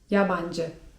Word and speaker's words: yabancı: yabancı (czyt. jabandży) Jak usłyszycie to słówko w waszym otoczeniu to możecie być pewni, że towarzystwo rozmawia o was.